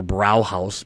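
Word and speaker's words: Brauhaus: ox Yol in uh mstream brew house or brow house BR a h a u s is how they spell it uh but it's right on a little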